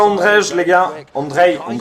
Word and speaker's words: Andrej: Andrej, excusez-moi, c'est Andrej qu'on dit. Le J se prononce I.